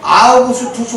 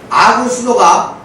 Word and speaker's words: 아우구스투스: 그래서 우리는 누가가 이 이야기를 소개하면서 저 멀리 로마의 권력의 정점에 있던 아우구스투스 황제를 언급한 점을 반드시 기억해야 돼요. 방금 누가복음 2장 1절 대충 읽었지? 아구스도라고 나와. 빨리 찾아봐요. 아구스도가 정확한 발음은 아우구스투스예요.